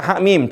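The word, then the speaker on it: حم: Sekali lagi cara baca ha mim. Coba kita baca. Maaf ini bukan panjang. Ini dibaca ini. Ha mim. Ya, seperti itu. Hamim. Silakan dicoba. Hamim. Tahan 6 rakaat.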